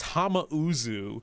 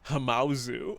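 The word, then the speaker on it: Hamauzu: It's Hamau, not Hamazu.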